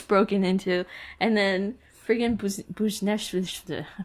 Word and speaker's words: Buchnevich: He decided to get in the way of a puck and get his smash broken into, and then freaking Buchnevich, how do you say his name? Vucinovic.